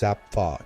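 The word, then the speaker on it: Zapffe: roles and Define ourselves then came zapi often pronounced Zapf in his native Norwegian he saw human consciousness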